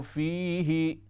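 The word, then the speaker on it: فِيهِ: फ़अनफ़हु फ़ीही, फा पर पेश है, फ़अनफ़ुहु, फ़अनफ़ुहु फ़ीही फ़यकून, फी दे हा जेर ही लंबा न करें, फ़अनफ़ुहु फ़ीही, फ़अनफ़ुहु फ़ीही फ़यकूनु तैरम बिइज़्निल्लाहि व उबरियुल अकमह।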